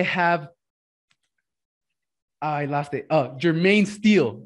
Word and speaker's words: Jermaine Steele: and today i have i lost it uh jermaine steele right yeah that's how you pronounce it man you got it yeah i